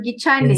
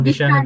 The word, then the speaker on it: Gishane: Is it Gishane, the Kikuyu one, or Gichane? Yes. No, Gishane, the Kikuyu one.